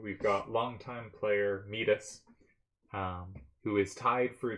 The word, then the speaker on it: Midas: the whole time uh king midas is pronounced midas i believe not metis but i'm i'm too